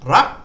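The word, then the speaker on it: รัก: So low class initial consonant, dead syllable, short vowel, and it gives a high tone. So ra, you've got to go high.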